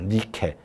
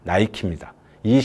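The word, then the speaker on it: Nike: 목표가 숨어 있는 겁니다 나이키는 그리스 로마 시대에 나오는 여신의 이름입니다 닛케이죠 니케 그런데 이걸 영업 발음으로 나이키입니다이 신발을 신으면 우리는 경기에서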